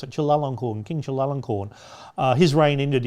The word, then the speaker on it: Chulalongkorn: I know how to pronounce it, Chulalongkorn, King Chulalongkorn.